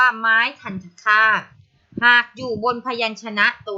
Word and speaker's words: ไม้ทัณฑฆาต: ตัว การันต์ นะ คะ ตรง นี้ ใคร อ่าน ว่า ไม้ การันต์ นี้ ผิด นะ คะ ต้อง เรียก ว่า ไม้ คัน คาด หาก อยู่ บน พยัญชนะ